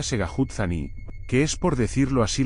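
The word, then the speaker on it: Tségháhoodzání: viaje desde Tucson hasta tsao zani se pronuncia segut zani que es por decirlo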